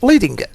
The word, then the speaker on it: leading: By the way, the vertical space between lines of type is called leading, and rhymes with sledding.